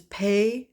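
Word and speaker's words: Paye: uh PB and B which is pay and Baker pay is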